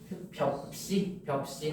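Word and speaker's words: 볍씨: 이때 여기 비읍 여기 좁쌀 벼 더하기 씨인데 벼씨 아니고 벽씨 하잖아. 그 씨도 비읍 씨인 거야.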